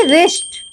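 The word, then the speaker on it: wrist: W silent हो जाएगा ऐसे ही रिस्ट डब्लू साइलेंट हो गया क्योंकि इसमें आ आया तो जिस भी वर्ड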